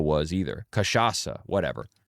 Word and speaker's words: cachaça: I didn't know what cachaca was either. Cachaça, whatever. How come they got the C pronounced like "k" at the beginning and the C pronounced like "s" at the end?